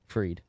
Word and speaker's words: Fried: Is it Fried or Freed? Freed. Well, it's spelled Fried.